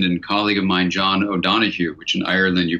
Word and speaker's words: O'Donoghue: a dear friend and colleague of mine John O'Donoghue which in Ireland you pronounced John o donahoo and he had been a wonderful wonderful wonderful